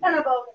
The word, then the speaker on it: Sennebogen: Did I pronounce the Sennebogen part right? Sennebogen, yeah, Sennebogen.